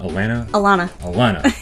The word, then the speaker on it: Alana: Did I pronounce that right? Is it Alana? Alana.